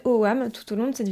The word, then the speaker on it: Ogham: ce prononce quasiment pas on retrouve cette idée dans eight en anglais le chiffre 8 on dit pas ect on dit bien eight donc pour les douanes